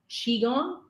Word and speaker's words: Qigong: as well so is it through that the Qigong I say it right this side yeah so yeah so Qigong is an ancient self-healing martial art so like